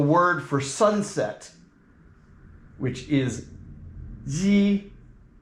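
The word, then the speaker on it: 夕: And that is spelled with an X and an I, and it's with the, there you go. The accent goes straight. That means that it's just an even tone all the way through, and it's like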